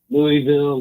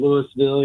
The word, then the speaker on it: Louisville: But, Louisville, Louisville, you just kind of have to swallow the whole word.